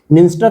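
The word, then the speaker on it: Dniester: निंस्टर नदी देखो ये रहा, जिसमें डी साइलेंट यहां पर भी रहेगा, ये यूक्रेन के पास से निकलती है और यहाँ पे मालदोवा देखने को मिलेगा।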